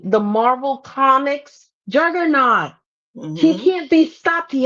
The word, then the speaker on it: Juggernaut: Juggernut. Okay. I always said it wrong. Oh yes. Mickey is so right. The Marvel comics juggernaut.